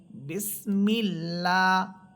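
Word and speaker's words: بسم الله: এবং আল্লাহ শব্দের পূর্বে যদি জের থাকে তাহলে আল্লাহ শব্দকে আমরা আকার দিয়ে পড়ব। যেমন আমরা পড়ি বিসমিল্লাহ।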